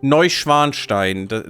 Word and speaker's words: Neuschwanstein: Neuschwanstein. That is a castle. Neuschwanstein. That no English speaker can ever pronounce.